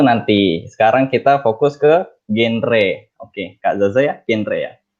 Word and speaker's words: GenRe: Terus bagi yang belum tahu nih, genre, jangan salah pengucapan ya. Masih banyak banget orang yang nyebutinnya tuh genre, padahal it's genre, bukan genre. Karena kan generasi berencana, bukan generasi berencana.